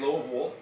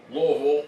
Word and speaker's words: Louisville: Well, I did go to today in Louisville. Louisville. You have to say it like that. They get mad. It's not Louisville.